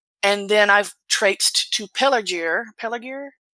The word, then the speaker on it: Pelargir: And then I've traipsed to Pelargir. Pelargir? Is that a hard G? It's a hard G. There aren't soft G's in Pelargir.